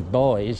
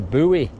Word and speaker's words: buoy: They call them a buoy. Yeah, buoy. Well, it's spelt B-U-O-Y, isn't it? So, I mean, it looks like it's pronounced buoy, doesn't it, somehow? And yet we just said boy.